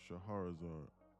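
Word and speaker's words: Scheherazade: Shaharazar. That's how it's spelled.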